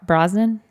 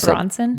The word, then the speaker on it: Brosnan: Is it Brosnan? Pierce know. Brosnan. Did I say it wrong? I think you said Bronson.